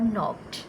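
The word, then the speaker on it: knocked: नो और हु और नॉक्ड। नो में के है, WHO हु W। नॉक्ड में के की साउंड नहीं आती।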